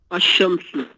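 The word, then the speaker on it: الشمس: हाँ, यही फ़र्क है बस, यहाँ पे आपने लाम को बोला है अल कमर, यहाँ पे आपने लाम नहीं बोला, आपने सीधा अशम्सु कहा है, लाम साइलेंट कर दिया यहाँ पे।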